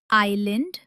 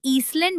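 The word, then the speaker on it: island: एस अक्सर एल से पहले साइलेंट होता है। जैसे आइलैंड और आईल। इसे ईसलैंड बोलना बहुत बड़ी गलती है।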